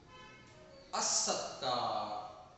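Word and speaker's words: الصدقة: हम लोग दोहराते हैं जिसम र लाम नहीं पढ़ जाता रफ शमसिया के कुछ अ जैसे अर रहमान अस सदका अजिक देखिए इन तमाम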